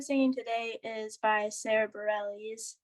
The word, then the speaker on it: Bareilles: today is by sara bareilles i think that's how you say her name um actually sara bareilles but you're close but so she's more